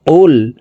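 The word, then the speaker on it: قُلْ: করে আমাদের শিখতে হবে কফের উচ্চারণ জিহ্বার গোড়া তার বরাবর উপরের তালুর সঙ্গে লাগাইয়া উচ্চারণ করতে হবে তো এই কফটি জমা লামকে ধরবে কফ লাম পেশ কুল কুল তারপরে দেখুন আউ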